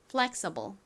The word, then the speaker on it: flexible: 여기서 살짝 된 소리가 나서 쌍시옷에 가깝게 발음해 주시면 더 자연스러워요. 발음 연습해 볼게요. flexible 한 번 더 해 볼까요?